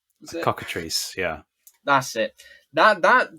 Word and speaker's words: cockatrice: it correctly earlier I'm not gonna try to pronounce it the cockatrice cockatrice yeah that's it that that depiction is one